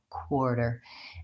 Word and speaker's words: quarter: and it's pronounced with a K and W sondik kind of WA quarter and so sometimes people